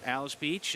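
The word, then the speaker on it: Alys Beach: talking about Atlas Beach the pronunciation her name is for a beach down in the panhandle of Florida Alice Beach uh but you spell it a-l-y-s and um and she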